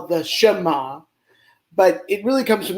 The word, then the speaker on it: Shema: shma is correct and it is pronounced is pronounced the shema and it is pronounced uh very very very